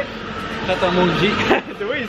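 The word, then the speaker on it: Pret A Manger: Pret a Manji.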